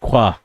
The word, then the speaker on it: Saint Croix: It's French influence. Like LaCroix. Yeah. That sounds Yeah, Maybe, but it's I don't Croix. know. It's pronounced Croix. Croix.